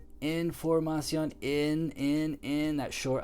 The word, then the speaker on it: información: in that short I, información. I'm not saying it right in Spanish. I'm doing a short I in English. Short I doesn't even exist in Spanish. The I sounds like E.